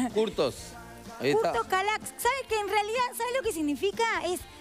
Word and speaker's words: Kürtős Kalács: Porque es re difícil en realidad de Curtos, pronunciar. Curtos. Curtos Calax.